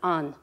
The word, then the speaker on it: an: The word for the is on.